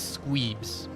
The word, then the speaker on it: Squeebs: The cat is Squeebs. With the minimum of 3 E's. It varies how you want to spell it, depending on how long you want to say that.